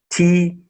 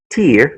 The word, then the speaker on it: tear: T-E-A-R. The first one is pronounced tear, like tears in my eyes. And then the second one, T-E-A-R, is pronounced tear. Example, to rip something apart.